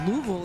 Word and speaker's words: Louisville: there are very uh many ways to say the city's name of Louisville that I guess Louisville is kind of what the natives say you're from Texas how